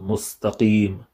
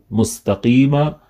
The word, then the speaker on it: مستقيم: They should try and pronounce it with qaf. So it's not ka or k or q, it's qaf.